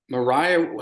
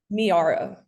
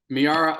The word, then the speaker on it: Miara: I might say right is that Mariah how do you say your first name miara miara O'Neill Shaquille O'Neal's daughter